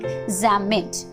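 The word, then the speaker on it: Psammead: Here this is Zamet. Okay, this is Zamet. It is not PP, is silent here, so pronounce it like Zamet.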